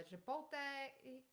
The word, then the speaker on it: chipotle: fine yeah and I'm gonna try uh the Chipotle oh hold on yeah how do you say